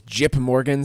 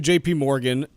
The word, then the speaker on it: JPMorgan: and and saai group was jip Morgan some sort of like joke about it being a a jip to bank there or were you just I was just mispronouncing their name um so it's actually JP Morgan Wells Fargo and City